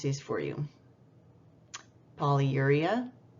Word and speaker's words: polyuria: I'm just going to pronounce these for you. Polyuria, pyelonephritis, ureterorrhagia, extracorporeal shockwave lithotripsy.